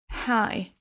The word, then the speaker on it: high: au Canada l'automne 42 high. Notez ici que la prononciation de ce mot de cet adjectif hi se prononce exactement comme quand on dit salut bonjour avec un H et le I.